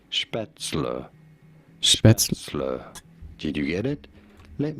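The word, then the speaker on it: Spätzle: go about pronouncing it some people say it as schpetzel but no it is to be said as spatzler did you get it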